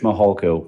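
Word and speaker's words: Mihalko: court reporter you bet my name is mahalko good morning I'm a commander with the El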